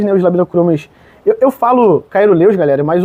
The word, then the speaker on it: caeruleus: Eu falo Caeruleus, galera, mas o certo mesmo não é Caeruleus. Cerúleos, né, a pronúncia é certa, né?